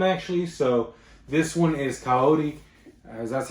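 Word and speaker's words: Kaori: two of them actually so this one is coyote as that's how you say it from your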